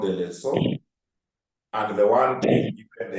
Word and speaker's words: lessor: A lease is an agreement whereby one party is known as the lessor, not leaser, the way some people call the correct pronunciation is lessor, conveys to the lessee